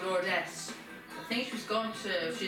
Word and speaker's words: Lourdes: And her daughter, everyone pronounces us as Lords, that's pronounced Lordess.